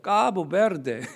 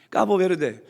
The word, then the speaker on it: 카보베르데: 여기 발음 잘하셔야 돼. 카버베르데. 잘하셔야 돼. 까버 베르데.